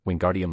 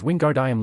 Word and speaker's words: Wingardium: The boy was practically shouting in Hermione's ear, "Wingardium Leviosa." The girl seemed to snap at his spitting. "You're saying it wrong. It's Wingardium Leviosa, make the gar nice and long."